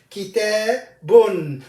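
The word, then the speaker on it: كتابٌ: So the pronunciation of the tanween is an extra noon with sukoon comes with the tanween.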